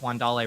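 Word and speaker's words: Wan'Dale: up with chris but it is in fact juan dale robinson and the rest of you are just flat out wrong that is also the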